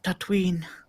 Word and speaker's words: Tatooine: He's like, left on the deserts of Tatooine. Tatooine, two syllables. Yep, Very good. Tatooine. It's like Halloween.